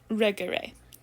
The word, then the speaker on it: regere: So monere rather than regere. The E's sound different. The first E of the infinitive is a long E in the second conjugation and a short in the third.